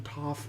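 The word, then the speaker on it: Toph: I really like to too because it rhymes with tough.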